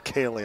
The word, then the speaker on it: Kaylee: I've been pronouncing it Callie. I believe it's Kaylee, I just heard somebody say down here.